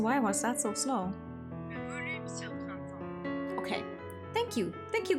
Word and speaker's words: Le Volume sur Printemps: But anyway, apparently, according to Google Translate, this is how you pronounce it. Oh, okay. Hold on. Le volume sur printemps. Yeah, I would not have said that correctly.